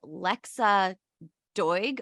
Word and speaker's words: Lexa Doig: Her name is Lexa Doig. Man, I'm just butchering this shit up. It's spelled Doig if you guys want to Google.